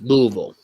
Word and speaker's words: Louisville: You pronounce it wrong. It's Louisville. We pronounce it Louisville in these parts. It's called Louisville.